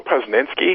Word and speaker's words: Posnanski: Although I think it was it Joe Posnanski? Is that how you pronounce his name?